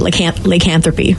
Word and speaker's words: lycanthropy: That's how you say it, lycanthropy.